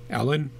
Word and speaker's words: Helene: We've also got Helene, or if you want to go with a French pronunciation, that would be Ellen, I think.